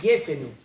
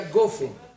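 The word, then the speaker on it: גפן: On dit Gefen. Eux ils disent à Gofen. Ou les Thémanites ils disent à Jofen. Mais nous on dit à Gefen.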